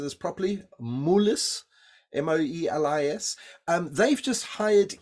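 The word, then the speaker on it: Moelis: Banking firm and I don't know whether I'm pronouncing this properly moolis m-o-e-l-i-s um they've just hired 11 at Silicon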